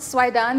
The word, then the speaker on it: Soueidan: again I said that my last name is pronounced Sweden the all the vowel letters s-o-u-e-i-d-a-n that pronunciation that spelling is a more German and French than it is English so you know this is how you pronounce it so I done I'm